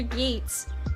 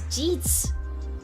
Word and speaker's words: Jeets: Also, Sir Gates, you gave me a donation. Thank you so much. As a gift. Oh, I said it wrong. Hold on. Before you answer, it's Jeets.